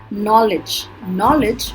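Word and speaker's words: knowledge: नॉलेज में बहुत सारे साइलेंट लेटर्स हैं जिसमें K भी है, W भी है, D भी है. ओके, बट अभी हम फर्स्ट लेटर की बात कर रहे हैं तो इसके अंदर K साइलेंट है.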